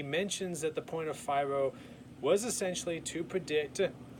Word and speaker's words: FIRO: And the theory I decided to couple with The King's Speech was the FIRO theory, which was introduced by Dr. Will Schultz in 1958. FIRO, which rhymes with Cairo, like in Cairo, Egypt.